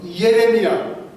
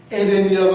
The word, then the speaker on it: 예레미야: 셋째 조연급으로는 선지자들로서 예레미야, 에레미야가 아니라 예레미야. 발음들을 어떤 데는 에레미야 그러시다.